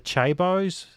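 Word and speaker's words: chaebol: Is it the Chaibaos? Is that how you pronounce it? The chai balls, yes, yes.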